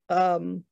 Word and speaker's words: Nghi Vo: Jemisin, Kate Elliott, Nevo, and that's spelled N-G-H-I-V-O, she only has a few things out, but they're all fabulous.